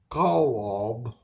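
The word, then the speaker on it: חָלָב: Is how you spell it. Kalob is how you say it.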